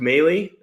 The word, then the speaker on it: Moehle: Just Mey spelled like right there on the screen. M O H L E. Makes no sense, I know.